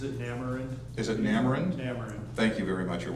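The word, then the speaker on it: N'Amerind: If anybody knows the proper pronunciation, please help me out. Is it Namarind? Is it Namarind? Namarind.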